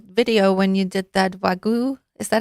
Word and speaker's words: Wagyu: I saw that video when you did that Wagyu. Is that how you say it? Yes, Wagyu.